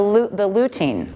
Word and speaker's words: lutein: And then this is the lutein. Correct. I'm pronouncing this right, okay.